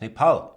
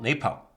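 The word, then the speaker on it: Nepal: learned something for example how not to pronounce me pal it's knee pal not me pal so a pal and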